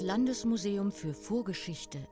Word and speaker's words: Landesmuseum für Vorgeschichte: which at the time was called the- La- Landesmuseum für Vorgeschichte, Halle. [trying a different pronunciation] Landesmuseum für Vorgeschichte, Halle. (Woman): Das Landesmuseum für Vorgeschichte in Halle.